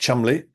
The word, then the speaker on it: Cholmondeley: Lionel Cholmondeley, spelt Cholmondeley, but pronounced Cholmondeley, 1858 to 1945, the SPG missionary and honorary